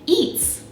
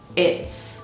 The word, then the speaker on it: it's: So not eats, but it's.